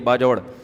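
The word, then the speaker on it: باجوڑ: उनके सुसुर केपीके से ताल्लुक है बाजोड़ से बाजवड़ का जिसको बाजवड़ कहते हैं। असल प्रोनाउंसिएशन यह बाजवड़ इतने बड़े आलिम है।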